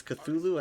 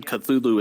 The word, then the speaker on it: Cthulhu: have to clarified that he had no intended correct pronunciation Cthulhu is just the popular yeah what people started pronouncing pronouncing it as but uh Michaela says Cthulhu um but he basically said that human vocal cords cannot actually correctly pronounce how it is that that's just the closest people can get is Cthulhu yeah that makes sense